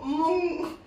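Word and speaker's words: moong: Mung. I'm going to call it. I'm going to pronounce that mung.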